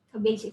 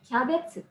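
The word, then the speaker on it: キャベツ: Cabbage itu kol ya, kembang kol. Nah itu kalau misal diucapkan cabbage, mengikuti cara baca luar, itu nggak akan tersampaikan juga. Maka diadopsilah sesuai dengan lidahnya orang Jepang. Jadi kyabetsu.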